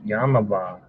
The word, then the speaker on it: Yamava: I heard it was all the greatest place, Yamava. Let me spell it out for you, because everyone thinks I'm saying Yamaha.